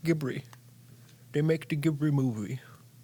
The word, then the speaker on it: Ghibli: He said Dibli. He said gibbery. Ghibli. It's pronounced Ghibli.